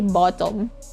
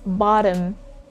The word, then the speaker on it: bottom: sound is this one you don't say bottom okay it's not bottom it's bottom bottom schwa is also common